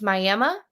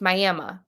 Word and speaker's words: Miami: Well, there's also a place here in Oklahoma called so it's spelled the exact same way as Miami, Florida, except here in Oklahoma, it's Miami. That's how you say it. It's Miami.